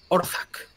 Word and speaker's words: Orzak: Mario, ¿puedes volver a pronunciar ese nombre, por favor? Tunarath. El otro. Orzac.